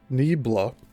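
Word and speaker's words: Niebla: The prehistoric stonework of Nibbla in Spain and that's spelled N I E B L A and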